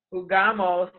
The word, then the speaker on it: jugamos: It's only J-U. It changes in the we form. It's just jugamos.